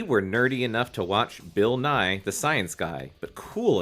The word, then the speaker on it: Bill Nye: he time he is Bill n his name rhymes with science guy he's got a song